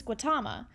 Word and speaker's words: Gautama: temple and she said personally her temple uses Gautama so that is what I'm going with and